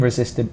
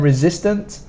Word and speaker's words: resistant: separately Flame and then resistant is a long word but it's quite easy to spell we have re system notice this s is more of a z sound resistant hot hot hard